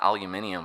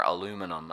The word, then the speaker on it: aluminium: If you want gallium, you need an aluminium or aluminum as the Americans say um facilities.